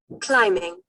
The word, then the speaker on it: climbing: Climbing. Ya. Climbing. Jadi itu hilang ini ya. Ininya hilang ya. Saya share ini pronunciation-nya ya.